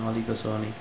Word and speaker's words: oligopsony: P is silent, okay, monosony and oligosony.